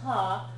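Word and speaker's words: は: yes okay sool is that symbol is ha but it's getting pronounced as W when it's doing certain special functions so um so I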